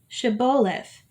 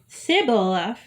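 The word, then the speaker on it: shibboleth: they said all right say shiboleth if he said cybolaf because he could not pronounce the word correctly they seized him and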